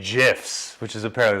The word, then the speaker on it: GIF: and you guys I like the addition of gifts within the conversation nice or should I say gifs which is a pair of the proper way